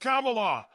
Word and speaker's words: Kamala: she wrote M why name is pronounced Kamala like the punctuation mark it means lotus flower